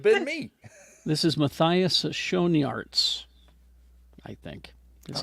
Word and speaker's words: Schoenaerts: this is Matthias Schoenaerts, I think.